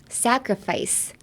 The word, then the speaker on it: sacrifice: All right, so looking at the pronunciation, sacrifice. Sacrifice has two C's, but you pronounce both of them differently.